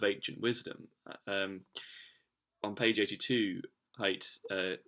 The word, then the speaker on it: Haidt: And by the way, apologies for this, but actually it's Haidt, not hate. That's the pronunciation I've just discovered now. So just bear that in mind when pronouncing the author's name.